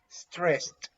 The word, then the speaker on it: stressed: feel stressed and remember the pronunciation for this is stressed like a final t stressed okay you say it's